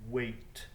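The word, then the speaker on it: hwæt: of beowulf is wait we don't pronounce the h it would sound like weight weight sheamus heaney translates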